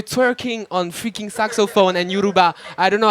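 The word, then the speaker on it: Yoruba: Yuruba.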